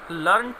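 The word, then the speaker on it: learned: की third form है students, यानी कि लर्न, लर्नड, लर्नड, और लर्नड भी थर्ड फॉर्म ही होती है। यदि मैं इसका प्रोनाउंसिएशन लर्निड कहता हूँ स्टूडेंट्स, तो ये एडजेक्टिव का काम करेगा।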